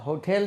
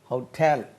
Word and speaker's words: hotel: ஹோட்டல் உச்சரிப்பு எப்படி? ஹோட்டல் 2 syllable இருக்குது அதில். Second syllable is டு பி அக்சென்டட். அது ஸ்டைலாக நம்ம ஹோட்டேல் என்று சொல்லி சொல்கிறாங்க, அதுவும் தவறு.